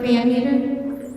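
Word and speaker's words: Van Matre: Van Meter, Van Meter, V-A-N-M-A-T-R-E. Doesn't it all sound like it's spelled?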